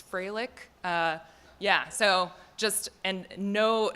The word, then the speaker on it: Froelich: blame my parents also my last name is atrocious it's Fralick yeah so just and